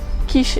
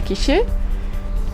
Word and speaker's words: quiche: un incohérence en français on dit quiche et pas Quiché et euh et du